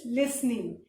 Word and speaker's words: listening: revise the correct spelling the first word is listening and what is the correct spelling but we do not pronounce the word so l-i-s-t-e-n-i-n-g is listening then